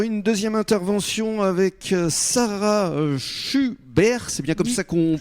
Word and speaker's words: Chuberre: Les essentiels du sport, une deuxième intervention avec Sarah Schubert, c'est bien comme ça qu'on prononce?